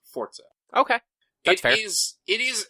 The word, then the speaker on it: Forza: the r and the Z make the rtz fortza it's fortza is how you pronounce it so um let's see if screen